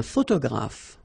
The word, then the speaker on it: photographe: So here ph and here ph. Pronounce it like f, f, f, f.